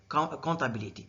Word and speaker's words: comptabilité: In French, they write comptability with MP, but they pronounce MP with N, comptability.